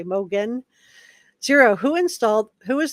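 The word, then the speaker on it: Mogen: Hol thanks for that I have a friend that says the same name same last name but she pronounces it Moen so I I don't know if I'm gonna I'm gonna try to to just correct myself here and say Mogan zero who installed who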